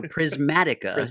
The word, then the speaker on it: Prismatica: And so Prismatica, it's pronounced slightly differently in a way that so you don't say prison.